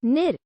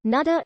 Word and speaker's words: Niger: nagiran meaning flowing water the most common pronunciation is the french one of nir though in anglophone media nada is also occasionally used